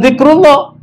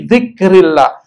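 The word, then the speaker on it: ذِكْرِ اللَّهِ: Bukan zikrullah atau zikrullah, tapi dzikrillah, mengingat Allah Subhanahu wa taala, maksudnya salat.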